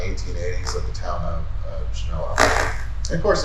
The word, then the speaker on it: Genoa: And even in that meeting, that they actually discuss how they're going to pronounce this, believe it or not, and it is Genoa. They said they called it the Anglo-Saxon way to pronounce it. I don't know what that means, other than they called it Genoa instead of Genoa.